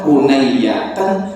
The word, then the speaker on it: hunayyatan: Padahal Hunayyah itu ada 3 cara bacanya. Hunayyatan, Hunayyatan, atau Hunayatan. Sakata Rasulullah Hunayyatan. Saya pilih lafaz Hunayyatan. Secara bahasa lebih mudah dilafazkan, takhfif. Haknya diganti a, a-nya ditasydidkan ke ya, Hunayyatan.